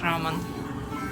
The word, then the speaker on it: рамен: Выбираем себе классический рамен. Правильно говорить рамен.